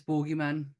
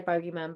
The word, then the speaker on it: boogeyman: not he's the Boogyman the boogeyman I don't know how you say it depending on where you come from but that if if it's me it's borgy man Jo see I I normally would say bogyman but I got told